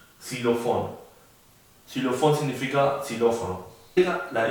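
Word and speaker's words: Xylofon: La X se llama X y se pronuncia prácticamente como la del español, como X. Xilofón.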